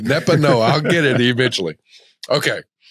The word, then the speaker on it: Nepanoa: Nepanoa. I'll get it eventually. Listen, my memory's as long as a turtle's tail and just as fast. Forgive me for botching that. So I'm like, Nepanoa.